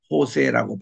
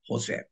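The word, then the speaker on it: José: 그래서 요셉 할 때에 우리 영어로서는 조셉이라고 읽지만 레티너 또 이 스페니쉬로 읽을 때는 호세라고 발음을 하죠. 요셉을 호세.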